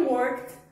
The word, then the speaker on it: worked: Então, I worked at home. Você não vai pronunciar esse E forte, tá? Worked.